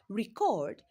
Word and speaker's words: record: So in the word record re is not stressed while cord is stressed.